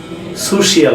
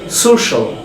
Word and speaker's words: social: Word ends with CIAL or TIAL we will pronounce shall, shall, like commercial, crucial, আরেকটা very important word social বলি আমরা, social, presidential.